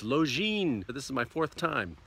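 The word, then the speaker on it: Lošinj: you look at it it looks like it's pronounced lozenge it's not lozenge it's lo Jean this is my fourth time in Croatia but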